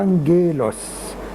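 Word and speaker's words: ⲁⲅⲅⲉⲗⲟⲥ: أول واحدة فيها بيتبعها حرف غمة زيها يبقى هتتنطق نون. تاني واحدة فيها بيتبعها حرف الأي اللي هو حرف مائل للكسر هتتنطق جيم، هتبقى أنجيلوس معناها ملاك، وجاية منها كلمة انجل اللي هي في الإنجليزي.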